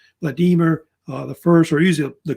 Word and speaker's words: Vladimir: may have heard of May Vladimir or Vladimir usually Vladimir how they say it sometimes in Russia Vladimir the first or usually